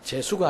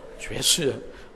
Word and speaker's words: 죄수: 발음을 잘하셔야 됩니다. 재수가 아니고 죄수 왕과 죄수.